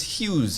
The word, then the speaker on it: Hughes: My surname is Hughes. H U G H E S. Some people like to call it, some people pronounce it huge, some people pronounce it hug hug head.